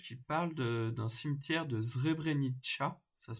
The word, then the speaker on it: Srebrenica: En bas à droite, vous avez une petite image qui parle d'un cimetière de Srebrenica, ça se prononce comme ça.